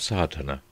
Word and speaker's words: sadhana: going through the proofs a word may be added about the pronouncing of sadhana the accent falls decisively on the first a which has the broad sound of the letter chapter one the relation